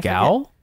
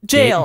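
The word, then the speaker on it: gaol: do you pronounce that gal no it's jail jail it's jail by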